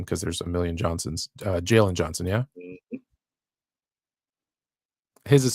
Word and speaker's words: Galen: But it's actually there's a Galen, pronounced Jalen, in ancient Greece.